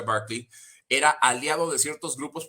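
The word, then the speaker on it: Berkeley: Virginia William barkly o se escribe berly pero se pronuncia barkly era Aliado de ciertos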